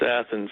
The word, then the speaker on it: Athens: is it Athens or Athens in Georgia it's Athens that is one town we do pronounce correctly well Pastor how tell us a